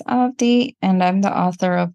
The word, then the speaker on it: Avadhi: The second A in the spelling is silent, so it's pronounced as Avadhi, and I'm the author of two books.